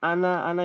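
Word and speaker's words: أنا: Ana kan memang pendek sebenarnya. Ana. Kan tadi ditulisnya sukun. Mabniun ala sukun. Ana itu sebenarnya begini memang. Pendek. Oh, asli. Aslinya pendek. Kita nggak boleh bacanya panjang.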